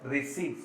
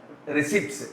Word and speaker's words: receipts: Listen here, this P should be silent. You should not pronounce the letter P. It should be pronounced as receipts.